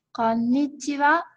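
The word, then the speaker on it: こんにちは: Jadi yang kita ucapkan adalah konnichiwa. Konnichiwa. Seperti itu pengucapannya.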